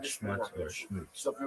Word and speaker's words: Schmutz: Schmutz is a Yiddish word Because that means every dirt or drop grime.